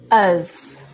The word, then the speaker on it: us: Us, us. This one, the last sound is the S, okay?